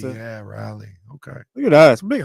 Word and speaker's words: Raleigh: I think it's Raleigh. Raleigh. How do you pronounce it? Yeah, Raleigh.